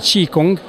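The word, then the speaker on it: Qi Gong: difficile à prononcer voilà bonjour alors si se prononce ti Kong alors ça veut direi ça veut dire souffle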